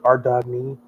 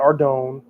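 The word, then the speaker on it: Ardougne: So, let's go back to Ardney. That's how you pronounce this city. It's our It's our Doug. That's Jagex said. It's not Ardone or Ard. It's our Ardney.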